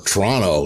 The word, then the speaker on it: Toronto: They end up in Toronto. Or Toronto, as the natives would say, because they're in a hurry. They only pronounce about half the letters.